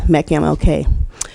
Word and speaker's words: MCMLK: organization, known as MCMLK, pronounced as MECMLK.